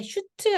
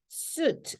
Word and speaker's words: suit: 이것도 마찬가지로 아이언맨이 입는 게 슈트 아니고요. suit, 우 발음이라는 거 알고 계셔야 합니다.